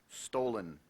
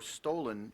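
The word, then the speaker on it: stollen: speech is a noun stolen Henrietta found a recipe for stolen in her German cookbook stolen also pronounced stolen stolen s t o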